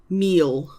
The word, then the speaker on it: mil: M I L meal.